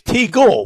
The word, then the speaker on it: Teagle: played with vinnie johnson it was teagle wasn't it teagle you're right terry teagle that's exactly what rhymes with legal yeah yeah i remember